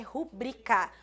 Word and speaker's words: rubrica: em proparoxítona ou seja quem está pronunciando rubrica está pronunciando errado o correto é rubricar rubrica é uma palavra paroxítona e é essa que